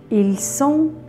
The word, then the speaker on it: ils sont: در سوی هم همینطور و در ایلسون و السون ت فینال تلفظ نمیشه.